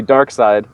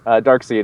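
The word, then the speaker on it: Darkseid: seed I think it's I believe it's dark side that's the way it's been pronounced in the comics you know Kirby used to always like do that play on words kind of thing so it's probably dark side so when he shows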